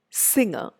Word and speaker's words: singer: April, singer, famous.